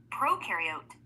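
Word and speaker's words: prokaryote: Proariote the pro rhymes with no.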